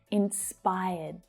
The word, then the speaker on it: inspired: Now that final D is a soft D sound. So when it's spoken, you hardly hear it. Inspired. Inspired. So hear how the air doesn't come out? I feel inspired by her. Not inspired by her, but inspired by her. So I'm catching that sound before I release it.